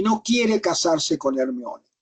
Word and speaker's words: Hermione: Algunos le dicen Hermione con acento en la I. Es Hermione la mujer, que es la hija,